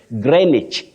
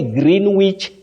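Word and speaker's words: Greenwich: say February Titus Bravo you say greenich or greenich don't say green Wich Meridian time no green witch no you say greenich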